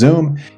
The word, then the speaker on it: Xoom: I guess some people might pronounce it as Xoom. I pronounce it as Xoom.